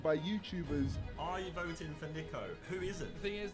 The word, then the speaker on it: Niko: it's quite a starting a lineup Nico they said my name wrong I can't believe it it's Nico not Nico I don't know how